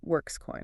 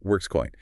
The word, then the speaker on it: WrkzCoin: It's a WRKZ coin, often pronounced Workscoin, right? Workscoin.